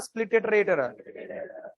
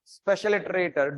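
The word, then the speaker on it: Spliterator: in video I told special iterator don't carry that word that is wrong I pronounced later in the comments I have corrected it okay it is not special iterator it is a split iterator why I pronounce it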